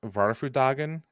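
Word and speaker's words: Vårfrudagen: like here's the thing it's a similar pronunciation to waffle hey pick that up you're waffles dragon you son of a so it's supposed to be varfa drag varfu doggin but what the tre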